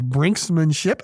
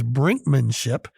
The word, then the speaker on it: brinkmanship: contract changes, is brinkmanship, which I always heard it as brinksmanship, and that is a correct second pronunciation. But in Webster's New World Dictionary, second college edition, it is brinkmanship, B-R-I-N-K-M-A-N-S-H-I-P, 3 syllables, a noun.